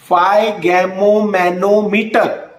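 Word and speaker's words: sphygmomanometer: फाइगैमोमैनोमीटर। और इसकी spelling S से होती है, फिर एस इज साइलेंट।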